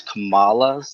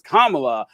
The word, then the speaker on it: Kamala: I would like to go back Sorry, I was like to go back to 640 when Tweedledee corrected me on how to pronounce Kamala's name.